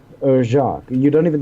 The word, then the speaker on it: Jacques: Brian Jacques. Or Jacques. You don't even, the S is silent, technically.